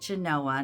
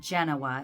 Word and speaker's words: Genoa: say this wrong Genoa Genoa Nevada here we pronounce it Genoa not Genoa as in Italy but I purchased a couple